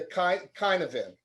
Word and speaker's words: Cynefin: I was thinking about, I came across this decision framework called the Kinefin, and it's spelled CYNEFIN.